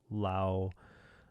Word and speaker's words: Laos: that know the country, I shouldn't pronounce the S. I know, I get it, but for other folks that see the S at the end, I'm going to pronounce it right. Lao, probably. It's probably better.